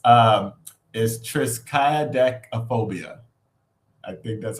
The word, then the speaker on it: triskaidekaphobia: But it's triskaidekaphobia. I think that's how you pronounce it.